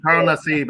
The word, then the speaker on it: Carl Nassib: Hey man, so let's talk about Carl Nassib. Am I saying that right? Carl Nassib. Am I saying that? Yeah, Carl Nassib. I think that's how you pronounce it.